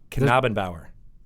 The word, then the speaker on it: Knabenbauer: to say it wrong, Knabenbauer. That's actually right. Yes! You got it. Yeah, All right. okay. Phew. I practiced with Chris a couple of times beforehand. I couldn't tell if they were messing with you or not. No, it's a hard K.